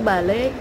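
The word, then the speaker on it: vale: suka maupun tobel Wanto Bale gitu jadi Bale atau dibacanya eh kan Vi itu dibacanya BKB tapi enggak BB banget kayak balik kayak kayak agak begitu Balai itu bisa berarti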